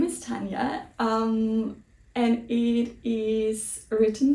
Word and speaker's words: Tanja: a che and so they thought it would be pronounced Tanja instead of Tanya and that is where